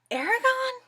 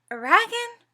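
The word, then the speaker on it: Eragon: said the name wrong it's Aragon oragan which is it I've heard different names I believe it's Aragon um by Christopher Pini it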